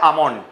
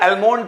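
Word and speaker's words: almond: अब बादाम को इंग्लिश में बोलते हैं आमंड, इसको बहुत सारे लोग एलमोंड पढ़ते हैं, ये एलमोंड नहीं है, इसका जो एल है वो साइलेंट है, इसको पढ़ते हैं आमंड।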